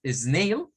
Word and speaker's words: snail: English por lo tanto cuando decimos snail es Juan Sílabo aunque esto lo podríamos ver nosotros raro verdad porque pensamos en la en la Perdón en la separación silábica del español podríamos creer que son dos pero no es una sola de hecho cake Pace